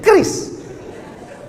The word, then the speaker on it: QRIS: Cara bacanya gimana sebetulnya? Kris.